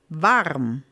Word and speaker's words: warm: Varm. You write that exactly the same way. There's just a little different pronunciation. Varm.